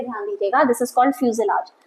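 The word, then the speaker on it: fuselage: में बोलते हैं फ्यूजल आर्च टर्म ध्यान दीजिएगा प्रोनन्सिएशन पे ध्यान दीजिएगा this is called फ्यूजलार्ज the centre body of the aircraft जहां पे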